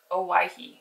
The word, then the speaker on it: Owyhee: that we can take advantage of everything the Oahu? How do you say that? Oahu.